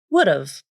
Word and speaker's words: would've: The same rules apply to the phrase would have. This can be pronounced like would've, would've, I would have gone with you.